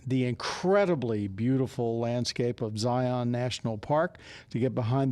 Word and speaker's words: Zion: It's Zion, not Zion, not Zion. So just it's a like note. Z-I-N? Zion. Yeah, the way it's spelled. They swallow the O.